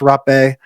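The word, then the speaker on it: rapé: of it, but um so it's pron it's pronounced rape.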